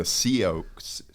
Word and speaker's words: Sioux: the SIOUX. We got one sitting over there. Sioux, Is that how you pronounce the it?